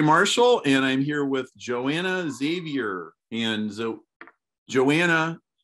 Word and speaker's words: Joana Xavier: I'm Perry Marshall, and I'm here with Joana Xavier. And so, Joana, and in Portuguese, it's Joana Xavier, right? Could you say it correctly? I can, yes, although I don't mind, but it's Joana Xavier.